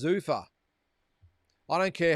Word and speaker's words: Zuffa: Drew, just a side note, the pronunciation of Zuffa is like saying Zuffa. All right, so it's not Zuffa, it's Zuffa.